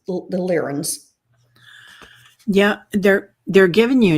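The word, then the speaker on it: Lyrans: Emily, if you don't know what the lens are, the cat people spel and it's spelled L Y R A Ns. So it's the lens.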